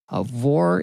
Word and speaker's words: Aurore: In case you didn't know, Aurore is a confusing name my mom picked for me because it sounded cool. A lot of people don't know that the R-E at the end is silent.